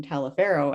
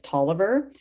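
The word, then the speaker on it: Taliaferro: so when we were preparing for this i pronounced the name talafero and then i got the whole um it's tolliver so you basically hermione you know the part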